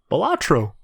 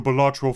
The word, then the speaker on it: Balatro: It rhymes with Spalatro. What? Balatro.